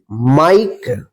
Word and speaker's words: mike: MIKE, माइक।